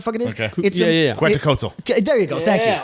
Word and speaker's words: Quetzalcoatl: The Mexican like dragon death god, Cucatale, whatever the fuck it is. Okay. Yeah. Quetzalcoatl.